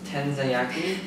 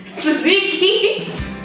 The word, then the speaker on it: tzatziki: Tenzayaki? Tzatziki.